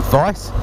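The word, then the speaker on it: Keis: ones are from a company called theis rhymes with twice just remember they all rhyme with nice which is exactly what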